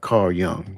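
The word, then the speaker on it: Carl Jung: Carl Young. That's how it's pronounced.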